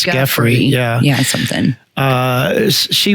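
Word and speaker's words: Giuffre: I think it's it's I believe it's pronounced Grey, like Jeffrey, but it's with a G. It's Jeffrey.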